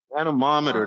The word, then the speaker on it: anemometer: like we had some attendees have some good pronunciations here for the anemometer anemometer that's it that's it I just can't never